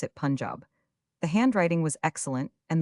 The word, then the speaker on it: Punjab: You must pronounce it Punjab.